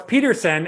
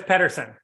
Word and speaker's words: Peterson: lay it on me how do you pronounce your name what's Peterson and everybody says Pederson okay we'll see there